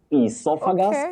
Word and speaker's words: esophagus: Essophagus is the correct pronunciation of that word.